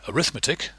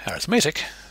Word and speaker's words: arithmetic: Whereas the word arithmetic with the emphasis on the third syllable is an adjective. that describes something.